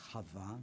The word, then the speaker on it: Chava: And Eve, which we mispronounce, the original name is Chava, meaning life.